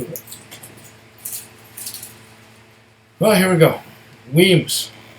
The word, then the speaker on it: Wemyss: Wemyss. Not Wemyss.